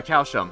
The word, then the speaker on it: Calcium: And yeah, Calcium right here. Going by the Japanese katakana for his name, it's pronounced very similar to calcium.